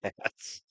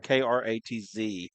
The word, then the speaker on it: Kratz: 21 is Katz. Trace Bussell just keeps sending me cash app. I appreciate it, Dollar. Katz. Kratz. Kratz. C-R-A-T-T-S. K-R-A-T-Z.